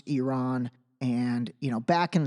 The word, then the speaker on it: Iran: The other thing is, and again, this is not me being critical, but like Iran is pronounced Iran.